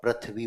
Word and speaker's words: पृथ्वी: हम सब में उच्चारण संबंधी दोष पाया जाता है। हम इसे र उच्चारित करते हैं और पृथ्वी बोलते हैं। र नहीं होता ऋ पृथ्वी पृथ्वी नहीं पृथ्वी ऋ होता है।